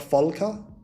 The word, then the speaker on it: Volker: This is, I think it's V is pronounced F in German. I think he's from Germany. But Volker, like, he from 0